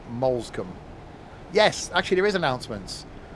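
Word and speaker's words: Moulsecoomb: Interesting how the announcement's pronounced Molescombe.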